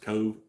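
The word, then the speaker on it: Cobh: there is Cove uh it's kind of spelled funny uh but it's pronounced Cove and that is the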